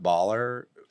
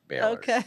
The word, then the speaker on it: Bahler: comes from oh that's great people call it baller we we don't correct them anymore because 95% of the people say baller but it's pronounced like the university Bor yes ma'am excellent well I'm glad you made